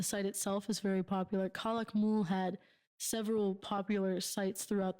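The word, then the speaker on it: Calakmul: Tikal is one of them, and yes, Tikal, Kalakamu? Kalakmul, and you'll like this one.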